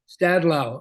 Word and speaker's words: Stadlau: How do you pronounce that? Stadlau. It was a team.